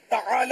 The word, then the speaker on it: تعالی: تعالی عین حلق سے نکالنا ہوگا، تو یہ سب کا نکلتا نہیں ہے.